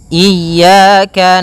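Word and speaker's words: إياك: Pada lafal ya ini hati-hati dalam pelafalannya ada dua kesalahan yang sering terjadi. Yang pertama yaitu dia memanjangkan iya. Nah, seperti itu harusnya dia ee ditekan dan dilembutkan. Iyaka. Iyaka. Nah, kemudian jangan sampai dibaca panjang.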